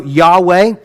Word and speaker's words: Yahweh: Now, like like I like I pronounced it a minute ago, Yahweh. That's the to the best of our ability, that is how it is pronounced. But we don't even know exactly because the ancient Hebrew didn't have any vowels.